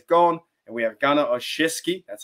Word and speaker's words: Olszewski: So Ray Ray's gone and we have Gunna Olszewski. That's how you say it. Olszewski, coming to the Steelers.